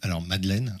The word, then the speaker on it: Madelen: qu'on a une plateforme qui s'appelle Madeleine, en référence plutôt à la Madeleine de Proust, même si ça s'écrit Madelen, certains d'entre vous la connaissent peut-être.